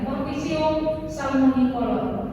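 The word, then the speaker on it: Corticium salmonicolor: Nah, jadi bacanya di sini jangan agak lambat, langsung ya. Cortigium salmonicolor.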